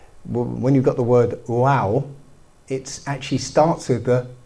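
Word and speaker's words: ו: Okay, there's this character called you pronounce it wow.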